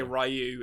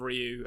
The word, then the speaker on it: Ryu: When I say Ryu instead of Ryu. I know it's wrong, but...